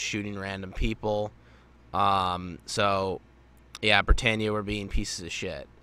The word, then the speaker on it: Britannia: So, yeah, Britannia were being pieces of shit, basically. Also, I do want to note this, that I am glad that we are getting the correct pronunciation of Britannia and not Britannia, like the Funimation dub